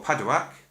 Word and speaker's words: padauk: fingerboard we have a padauk fingerboard or padawak depending on your pronunciation which is p-a-d-u-a-k 24 frets and a